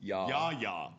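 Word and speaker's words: Yahya: You just called him You just called him Hey y'all Black. You You did too. You wrote in a Outcast song and it's not even kind of spelled that way. It's spelled the way it sounds.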